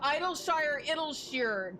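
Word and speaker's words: Idyllshire: See, also like it's not even like a Terrell issue cuz see also the Idolshshire debate that is not a debate. It is pronounced idles because that's how it's said in cutscenes.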